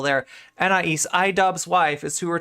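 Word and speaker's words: Anaïs: I just needed one more syllable there. Anais, iDubbbz wife, is who we're talking about.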